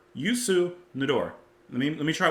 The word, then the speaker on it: Youssou N'Dour: here cuz I want to make sure I pronounced it right uh yuor hold on y Yu nador let me let me try it one more